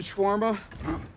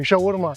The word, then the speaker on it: shawarma: Anyway, I like shawarma. It's not shawarma. Shawarma is shawar. Have you ever tried schwarma?